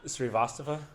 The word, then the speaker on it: Srivastava: Srivastava? God damn it. Yeah, that's Srivastava.